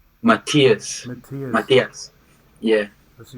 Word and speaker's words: Martiaz: And how do you pronounce that? Is Ethias? Matthias.